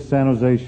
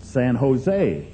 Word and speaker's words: San Jose: he said stupid California don't pronounce a J in San Jose well I said I'm